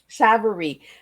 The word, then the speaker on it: Savarese: Miss Liz yep and my name is pronounced Savar savarie and I even asked